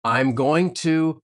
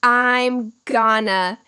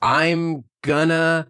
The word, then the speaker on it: I'm gonna: The chunk is I am going to I'm going to. But native speakers don't say it like that. It is too slow. We crush it together into one sound. I'm going to Can you try that?